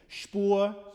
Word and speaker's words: Spur: Spur, Flur, rhymes with Flur.